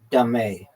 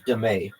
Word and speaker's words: dame: Also known as dame, pronounced dame. Okay. Also known as demay.